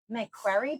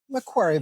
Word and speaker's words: Macquarie: climb the corporate ladder at EY, KPMG, and Macquarie Bank. Did I say it right? Macquarie Bank, close enough.